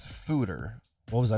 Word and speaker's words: foeder: can clean and sanitize it's spelled f o e d e r so it's not foder it's fooder it is fooder what was I saying